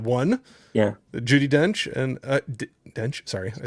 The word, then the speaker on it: Dench: Judi Dench and Dench, sorry, I said it wrong.